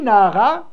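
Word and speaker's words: נערה: On le lit Nahara, ça s'écrit Nahar.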